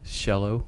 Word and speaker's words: Coelho: And how do you pronounce his name? Paulo Coelho.